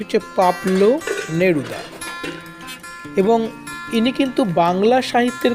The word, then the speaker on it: পাবলো নেরুদা: অনেক সময় ভুল করে পাবলু করে ফেলি কিন্তু উচ্চারণটি হচ্ছে পাবলু নেরুদা এবং ইনি কিন্তু বাংলা সাহিত্যের কোন কবি নন